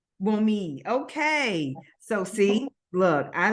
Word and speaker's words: Wunmi: And so it's Wunmi. That's good enough. Oh, It's good. close. The N is silent, so Wunmi. Wunmi.